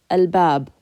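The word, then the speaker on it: الباب: So if you're not using your tongue, you're not using the front of your mouth, all you do is you just pronounce it al. Al-bab.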